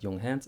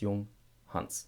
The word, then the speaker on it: Junghans: Common mistake here, again, a tiny mistake, it is Junghans. It's not Junghans, it's Junghans. And by the way, this German name, Hans.